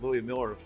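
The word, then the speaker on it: Louie Mueller: have some pretty good barbecue in Austin but Louis Miller is how you pronounce absolutely Louis Miller Lou Miller has been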